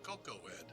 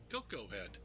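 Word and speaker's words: Koko Head: to pick up Honolulu and uh diamond oh cocoe head wow I was right huh wow I was just when I first said it I thought I said it wrong and old it was right Coco head yeah folks we are uh getting there we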